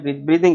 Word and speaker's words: breathing: आज हमने पढ़ना है मैकेनिज्म ऑफ ब्रीथिंग। ब्रीदिंग भी बोलते हैं, ब्रीदिंग है वैसे सही प्रोनाउंसिएशन। शावेज, वालेकुम अस्सलाम।